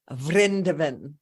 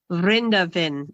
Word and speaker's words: Vrindavan: I knew I was pronouncing it wrong. Can you say it again? Vrindavan. Vrindavan.